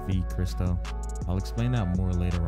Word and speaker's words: Vchristo: been called chris uh everyone skips the v but it's v christo i'll explain that more